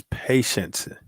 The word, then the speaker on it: patience: But this one is patience. Patience. You got to add that shun onto the end of it so that you can definitely get the true meaning, the true pronunciation of it.